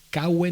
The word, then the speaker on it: cave: La cita en cuestión es la siguiente: Caue necadas. Caue necadas. Caue se escribe cave con V, pero se pronuncia caue, porque nuestras actuales U y V en latín eran todas Vs.